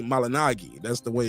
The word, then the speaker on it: Malignaggi: for the people saying I'm saying Paula malinagi instead of malignaggi he said his name is supposed to be pronounced that way when I used to follow and I used to watch your show it's supposed to be malinagi that's the way it's